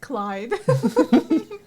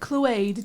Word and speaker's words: Clyde: It's pronounced Clyde. Ah, finally got tired of being called Cluade, did you?